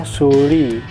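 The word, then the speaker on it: Thule: Kia Picanto 2005 ini bukan ruflek mahal sih, kayak tule itu sebenarnya tule dibacanya suli suli rak-nya seperti ini.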